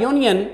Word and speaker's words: union: of course this word union starts with the letter u which is a vowel but when we pronounce these word we say union the initial sound is your like is you that's why we can't